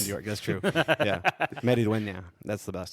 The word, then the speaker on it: Maridueña: Meridueña. That's the best. Say it name. again. All right. Say it. Meridueña. Maridueña.